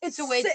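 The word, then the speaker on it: Świątek: It actually isn't what it looks like. Swat. Isn't it? Isn't it Shov? It's Swiatek. it's Siobhan Tech. That was Siobhan Tech. close. It's Swiatek.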